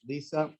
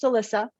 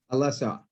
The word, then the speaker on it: Alisa: as an entrepreneur So Lisa Alisa welcome thank you Mark my name is actually pronounced Alyssa Alyssa yeah perfect wonderful uh